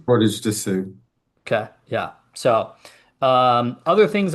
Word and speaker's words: Portage des Sioux: Portage des Sioux? Portage to Sioux.